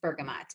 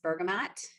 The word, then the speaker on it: bergamot: So how many of you pronounce this bergamot? And how many pronounce it bergamot? How many of you have tried this essential oil? I don't know if there is a correct way to say this oil, so we're just going to go ahead and accept them both, and don't judge me